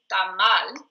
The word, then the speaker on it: tamal: A always is the A sound in Spanish. We don't have 7 different pronunciations for that letter. So anytime you see an A in a word in Spanish, you're always going to say A like in spot. So it's tamal, and it's only one